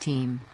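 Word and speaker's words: Eyam: But far from the smoky chaos of London, nestled in the picturesque peak district, lies the village of Bean, pronounced team.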